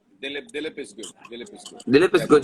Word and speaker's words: Dilip: Dilip, it's Dilip.